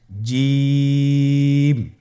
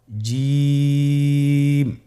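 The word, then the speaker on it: ج: জিম হারফটি বারিক হরফ এটা উচ্চারণ করতে হবে তিন আলিফ টেনে দেখুন আমি কিভাবে উচ্চারণ করছি আপনারা আমার সাথে করুন জিম মাশআাল্লাহ আবার বলুন জিম আপনারা চেষ্টা করুন হয়ে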